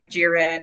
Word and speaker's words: Jiren: Um so I remember the Tournament of Power and I know Jiren and everything.